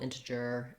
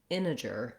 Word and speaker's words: integer: end of integer but when we have words that have an nt in the middle like integral integer internet we often as americans leave that t out so another option is to say it more like integer integer um and so thinking